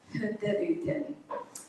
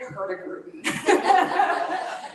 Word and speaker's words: Hurtigruten: We are a Norwegian-based cruise line, and the Norwegians so eloquently pronounce our name, Hurtigruten. The very Canadian in me pronounces it Hurtigruten.